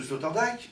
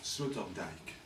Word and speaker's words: Sloterdijk: Pourquoi prononce-t-on le nom de Sloterdijk Sloterdijk? Pourquoi? Moi, j'ai décidé de ne pas le prononcer à la française. Parce qu'en allemand, ça se dit Sloterdijk. Je sais pas. Non? Je sais pas. Il est hollandais.